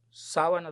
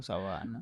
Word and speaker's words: sabana: a ese joven, "Mire, no se dice sábana yegua porque ese sábana no es no es de que se pone en la cama, es un territorio llano donde Claro. Sabana.